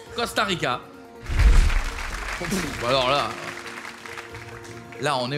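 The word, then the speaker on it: Costa Rica: cas c'est un C c'est comme ça se prononce costarica alors là là on est au niveau là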